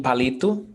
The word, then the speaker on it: palito: Is there accent mark in palito? No. No. Então vamos ver aqui, ó. Palito. The stressed syllable is li.